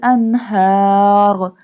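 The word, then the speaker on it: أنهار: Min tahtihal anhar. Anhar. This one ha pronounced from the bottom part of throat.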